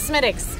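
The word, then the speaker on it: Smithwick's: she delivered shall we this is smiix it's my favorite beer it's spelled Smithwick U it's my favorite beer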